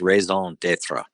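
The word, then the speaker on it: raison d'être: It's pronounced raison d'etre. I got a D in French. That's the only thing I remember. Yes, the raison d'etre, or the Warum habst du das, in German,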